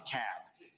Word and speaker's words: DeKalb: Yankees in the room it's DeKalb not DeKalb not the Cobb is to cab so we got to pronounce these things Doherty another one of those where all Benny is they're 74.